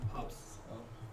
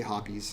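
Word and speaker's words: Hoppe's: recommendation right there, is how do you pronounce that? Hops. Hops. I say hoppies.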